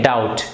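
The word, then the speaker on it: doubt: Intex cloud बाद देखिए यहां पर भी जो भी यह साइलेंट है ना इसको हम मोड नहीं पढेंगे इसको हम पढेंगे डाउट क्या करेंगे हम इसको Dawood B will be silent लिखा जरूर जाएगा लेकिन बोला नहीं जाएगा ओके खेल मैं जस्ट चिल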